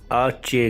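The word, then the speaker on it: hache: आप दोस्तों ने सुना एच को आचे कहते हैं आचे एच मीन आचे मैं फिर से रिपीट करता हूं आप सुनिए एच को आचे कहते हैं आचे नेक्स्ट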